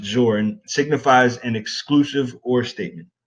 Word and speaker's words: XOR: about here is the XOR ORS or it's usually pronounced Zorin signifies an exclusive or